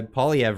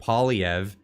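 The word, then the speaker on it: Poilievre: I'm terrible at pronunciation I got told that I say uh polyev wrong I had to start calling it saying it poliev because I was trying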